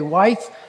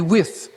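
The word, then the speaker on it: Wythe: was Professor George wi it's spelled w t he and most people say wife but it's actually with and he was the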